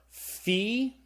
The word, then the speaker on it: phi: final grouping we have the fee okay what's the pH sound like in the English word phone so the fee is a sound F sound the next letter I